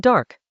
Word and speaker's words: De: De in Chinese, pronounced da.